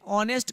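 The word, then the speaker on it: honest: हम ऐसे करते हैं, ऑनेस्ट का उच्चारण जो होता है मेरा ऐसे होता है, अर्थात यहाँ पे देख रहे हैं कि अ का उच्चारण आ रहा है और अ मेरा क्या है, एक स्वर वर्ण है।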